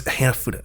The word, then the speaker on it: Hanafuda: Is that what it's Hanafuda? That's how you pronounce it.